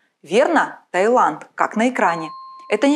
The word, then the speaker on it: Таиланд: написании произношении слова Таиланд встречаются два варианта через и через й как на экране так как же правильно запомним что в отличие от Тайваня и Малайзии название королевства Таиланд пишется без буквы е верно Таиланд